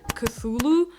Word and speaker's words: Cthulhu: entertained by the fact that you're supposed to pronounce it as cthulu since you know growing up with Russian as